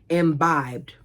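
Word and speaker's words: imbibed: It felt as if my insides were bouncing around like my guts had um embibed too much caffeine. Alexa, how do you pronounce imbed? embibed.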